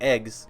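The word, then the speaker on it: AGWS: gnosis weapon systems or a GWS and pronounced like eggs started being manufactured eggs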